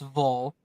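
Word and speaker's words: Wallstedt: here wallsted's not revolsted I gotta make sure I say his name right because it's not walled it's Vol um he's not NHL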